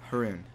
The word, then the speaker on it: Haroon: so my name is Haroon it's pronounced like Maroon with an H at the beginning instead of an M I guess yeah so